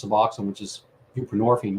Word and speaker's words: buprenorphine: It has roots, in the 70s and whatnot, and just replace your narcotic with something else, whether it's Suboxone, which is buprenorphine, rhymes with morphine, or methadone, ditto, and